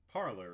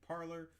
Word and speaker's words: Parler: So first things first, how do you pronounce it? Is it Parler? Is it Parler? It's officially started out as Parler, but as people didn't recognize that parlor is a French word for parlay, they begin to start